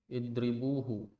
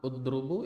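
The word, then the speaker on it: اضْرِبُوهُ: Bagaimana bacanya itu? Udrubu, idribu atau adrubu? Idrib. Idribu. Kenapa bisa idribu? Karena fi'ilnya Ya, ail failnya fi'ilnya pada fi'il mudhari berharokat kasrah. kasrah.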